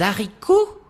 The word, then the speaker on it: haricot: Numéro 4, les haricots. L'haricot. Dois-je rappeler que le H du mot haricot est dit aspiré ?